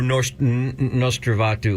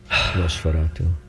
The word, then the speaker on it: Nosferatu: Or Nostravatu, or what's his name? Nosferatu? God, this has really been a good show for poor pronunciation, hasn't it? Sorry. I'm making fun of myself right now. Nosferatu.